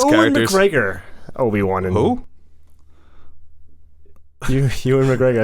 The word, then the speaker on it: Ewan: Ewan McGregor. I said, Okay. what did I say? Ewan? You gave him a couple more U's and E's. Well, you know, Ewy.